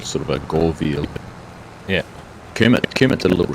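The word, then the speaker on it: Göweil: limited knowledge of German, an O with the 2 dots above it, an umlaut, I think it's called. You pronounce it with a U sound. So I think it's Go, and then I don't know if it's weil or wheel or... It's veal, isn't it?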